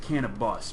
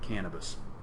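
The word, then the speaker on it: Cannabus: day and yet they're pronounce it can a bus because it actually is a bus it's not cannabis I mean they were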